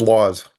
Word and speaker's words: Lause: It's Laws.